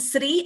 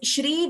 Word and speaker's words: Shri: one more observation is, it is not Sri, it is Shri Venkatadri and Shringagra, not Sringagra. So all of you please note that it is Shri, the Sh pronunciation should be clearer.